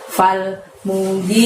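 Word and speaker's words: فَالْمُغِيرَاتِ: Cara membacanya semuanya pendek kecuali pada saat membaca gi sama ro gitu ya. Mu-nya, ingat mu-nya itu tidak panjang seperti di ayat yang kedua tadi. Fal mugiroti, seperti itu.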